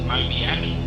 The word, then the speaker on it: Mobiak: It's pronounced Mobiak, so it would be spelled M-O-B-I-A-K, Mobiak.